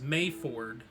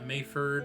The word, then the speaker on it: Mayford: the next one was May Ford May Ford yeah mayford or may Ford it would be pronounced mayford but to make it easier for spelling May Ford all right full Bridge